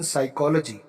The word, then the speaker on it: psychology: Is doing MA इन साइकोलॉजी। ये साइकोलॉजी की spelling बड़ी डिस्टर्ब होती है, ये सुनने में तो ऐसे स्टार्ट होती है लेकिन इसकी एक्चुअल स्पेलिंग P से स्टार्ट होती है, PSYCHOLOGY, ठीक बात।